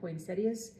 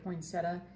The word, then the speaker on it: poinsettia: Poinsettias um which I always spell it wrong. I don't I always want to say poinsetta and it's poinsettia and uh but another large colorful full coverage you know stained glass.